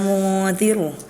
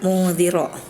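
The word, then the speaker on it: منذر: Innamā anta munziru. Nah, tadi Aila bacanya munziro, ya harusnya harakatnya dhummah, tapi tadi Aila dibaca fathah.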